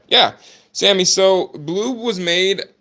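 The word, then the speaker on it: Blooob: A lot of people want to call him Blob or Boob or whatever they try to call him. But Bloob, B-L, the third O is silent, B-L-O-O-O-B, was made by us.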